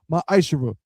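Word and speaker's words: מעשר: through 10, means 10th in Hebrew, and it's pronounced ma'ashera.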